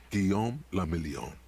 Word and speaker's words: Guillaume le Million: Guillaume le Million. Okay. If it doesn't rhyme, you're not pronouncing it right.